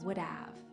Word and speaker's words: would have: But in fast English, would have is pronounced as would have.